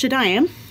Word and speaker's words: Shadayim: some point but anyway it's pronounced shadam not shadam or shadam or what other other creative ways people have tried to say it um I mean it's